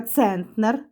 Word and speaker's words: центнер: Центнер наголос на е перший склад центнер і 100 кг - це 1 цент центнер.